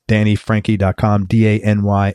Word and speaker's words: Franchi: and it's Danny Frankie its Danny da n why Frankie is spelled f ra n CH I hit him up on